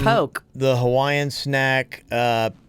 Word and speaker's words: poke: says here um it's poke the Hawaiian snack uh p o k which is Dice marinated AI tuna salad pronounced poke people often pronounce it Pokey or Worse poke as